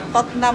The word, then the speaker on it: Tottenham: Totnam yun. Tottenham dito. Tottenham. Totam court ganon. Napakahirap ng pronunciation dito.